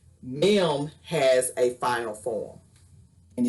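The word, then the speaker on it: מ: mem has a final form and it's called a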